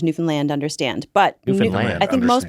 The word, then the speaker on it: Newfoundland: say it though well newfoundlanders pronounce it to rhyme with understand Newfoundland understand but I think most people say Newfoundland or Newfoundland Newfoundland so